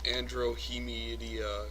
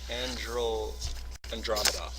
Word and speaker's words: Andromeda: I mean, how do you go right from Earth to the Andromeda galaxy? Like I said, it's a shortcut. It's a big shortcut. Hey, Deets. I believe that's pronounced Andromeda.